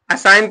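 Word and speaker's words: assign: है तो यहां पर जी क्या हो गया साइलेंट हो गया यहां पर देखिए इसको क्या पढ़े साइन असाइन पढ़ेंगे क्या असाइन असाइन माने सपना ए डबल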